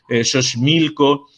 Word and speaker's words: Xochimilco: Se pronuncia como J, pero otras cosas en México, ¿no?, que se escriben todavía con la X, aquella X antigua castellana, pero se pronuncian como J portuguesa, ¿no? Entonces, por ejemplo, Xochimilco, Xcaret, ¿no?